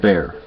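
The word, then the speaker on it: Bexar: initially went with um Bear County legal aid b x a r it's pronounced bear bear county legal aid I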